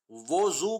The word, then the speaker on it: وضو: دوسرا وضو واو پر پیش کے ساتھ، اس کا مطلب ہے وہ شرعی وضو جو نماز سے پہلے کیا جاتا ہے. پس اصل تلفظ وضو ہوا.